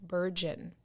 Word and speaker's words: burgeon: century it's a verb it's spelled b-r-u-g-e-o-n it's pronounced virgin it means begin to grow or increase rapidly right and so i will just put this in the atmosphere the book of dawn continues to burgeon because she keeps it so real yeah i